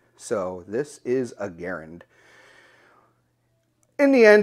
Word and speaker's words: Garand: clear to everybody that he wanted it pronounced the same way as his name and that is it rhymes with aaron so this is a garand in the end it's